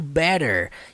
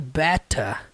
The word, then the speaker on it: better: Não é pronunciado better, igual o inglês americano, é pronunciado better.